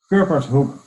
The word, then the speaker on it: Kurpershoek: How would you say it? Kurpershoek. Okay, so I'm not close, but these are the things that we will work out over the next few months.